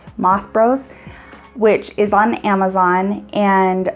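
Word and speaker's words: Mas Bros: I've got a 6-cup turner, but I have heard really good things about, I think it's pronounced Moss Brothers, M-A-S-B-R-O-S, Moss Bros, which is on Amazon,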